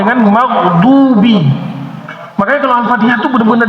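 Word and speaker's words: مغضوبِ: Siratalladina anamta alaihim ghairil magzubi. Ini fatal magzubi. Pakai d magdubi.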